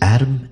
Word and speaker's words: ADM: most profound artificial intelligences ADM and R M pronounced Adam and REM considering your placement at